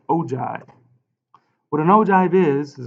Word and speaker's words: ogive: already we have an ogive here this is pronounced ogive what an ogive is is a graph of